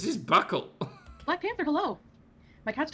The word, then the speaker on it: buccal: Buckle. That's buckle. This is British pronunciation. Hold on. Buckle. Okay, so it's pronounced buckle. Buckle fat? Buckle. It's just pronounced buckle.